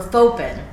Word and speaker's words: Fauxpen: Like faux leather or something.